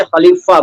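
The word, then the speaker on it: खलीफ़ा: ख के नीचे भी नुक्ता लगाइए और फ के नीचे भी लगाइए, तभी ये खलीफा बनेगा। अदरवाइज लोग फ को फा कहते हैं, फट गया, फैल गया, फूल गया, सफलता, असफल, ये सब गलत उच्चारण है।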